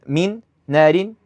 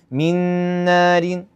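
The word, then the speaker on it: مِن نَّارٍ: Merge into one letter mushaddad. It's the same as the second. Min naarin. Min naarin. No No notice how I didn't say min naarin. Naarin. No. Ra is light.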